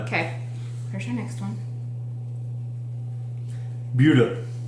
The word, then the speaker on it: Buda: Buda. Looks like Buddha, but it's Buda.